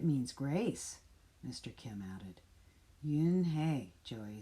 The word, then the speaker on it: Unhei: joey she nodded slowly yes it's pronounced yin hey and it means grace mr kim added yoon hey joey said slowly this